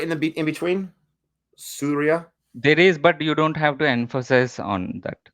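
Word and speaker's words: Suriya: It's same like the Surya Kumar Yadav, but Okay, spelling is different, but still the pronunciation will be same. It's called Surya. You can say Surya. The spelling is Surya, but when we say it fast, we say Surya.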